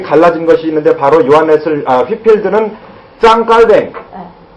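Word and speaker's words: Jean Calvin: 그런데 요한 웨슬리와 휘필드의 생각이 갈라진 것이 있는데 바로 휘필드는 짱 깔뱅. 짱 깔뱅입니다. 짱 깔뱅이라고 하는 요한 칼빈이라고도 하고요, 존 칼빈이라고도 하고요, 존 켈빈이라고도 하고요. 그런데 원 발음은 짱 깔뱅입니다.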